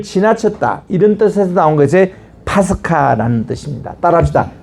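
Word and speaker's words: πάσχα: 이런 뜻에서 나온 것이 파스카라는 뜻입니다. 따라합시다. 파스카. 파스카. 그게 유월절을 히브리 말로 파스카라고 읽습니다.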